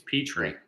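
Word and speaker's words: Pitre: do you say it petrie it's pea tree like a peach dish yeah all right so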